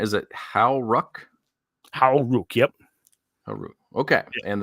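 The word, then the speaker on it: Hau Ruck: So how do you pronounce? Is it Howruck? Howruck, yep.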